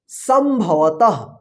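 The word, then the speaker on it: संभवतः: भवत संभवत ठीक है इस बिंदी का उच्चारण आधा म के रूप में हो रहा है ठीक है ना संभवत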